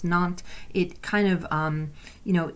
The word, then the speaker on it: Nantes: the Edict of Nantes it spelled na and tes what pronounce not it kind of you